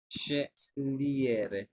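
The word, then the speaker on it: scegliere: আচ্ছা, এরপরে শেলিয়েরে, শেলিয়েরে means choose. এখানে আমার উচ্চারণ কি হলো? সি এস ই মানে সে, আর এটার উচ্চারণ হলো জি এল ই মানে লি।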